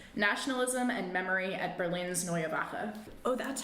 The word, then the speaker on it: Neue Wache: And my thesis is called Changing of the Guards/changing of the House: Nationalism and Memory at Berlin's Neyabaka. Oh, that's how it's pronounced.